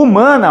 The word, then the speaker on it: humana: não é contado né na palavra humanas por exemplo o h não produz som nenhum se ele não produz som ele não é contado como um fonema então a palavra humana